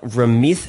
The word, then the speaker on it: Ramit Sethi: Why is the T pronounced like a TH and the TH pronounced like a T? I'll tell you two things about my name. First of all, in Punjabi, the way it's written, it's TH, so Ramit.